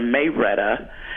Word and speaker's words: Marietta: guy from Georgia and they pronounced Marietta Georgia may Rhetta and he started calling